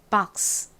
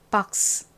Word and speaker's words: box: box, box. 끝에 박스 이렇게 스가 세게 발음되지 않고 바람 빠지듯이 스 이렇게 발음이 납니다.